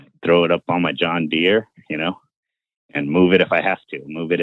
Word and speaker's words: John Deere: first of all I I think you mispronounced that it's John Deere not John Deere and secondly you said